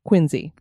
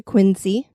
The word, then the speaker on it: Quincy: city that is because residents of Quincy actually pronounce it as quinsey so we will be pronouncing it like a local oh very good the